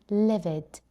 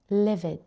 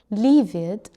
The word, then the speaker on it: livid: Number one is livid. Livid. Livid. This means very angry. So, stop saying very and say livid, livid instead. Pronunciation tip, it's short I. Livid. We don't say leave it, leave it, it's livid.